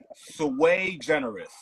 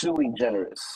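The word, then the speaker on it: Sui Generis: I say it right sway generous no it's suie generous there we go now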